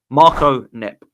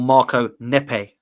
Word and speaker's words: Marco Neppe: And that leads me to our next name, Marco Neppe, or Marco Neppe, as I think it is pronounced.